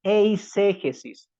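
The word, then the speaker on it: eiségesis: Lo contrario o lo opuesto de la exégesis es la eisegesis, tal como lo estoy pronunciando, eisegesis.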